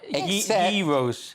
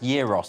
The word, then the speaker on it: gyros: of them right except Heroes and you said it's a kebab and it's pronounced Euros I wrote them down